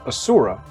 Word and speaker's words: Asura: And the Asura, sometimes pronounced Asura, are some of the oldest gods, titans, demigods, and sometimes demons in the world.